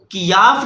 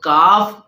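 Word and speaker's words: كاف: موٹا پڑھا جائے گا، اور کاف کو کیاف نہیں پڑھیں گے، یہ اردو تلفظ ہو جائے گا، جبکہ اگر کیاف پڑھتے ہیں تو یہ غلط ہو جائے گا، لہٰذا ہمیں عربی لہجے میں ادا کرنا ہوگا اور کاف پڑھنا ہوگا۔ اللہ تبارک و تعالیٰ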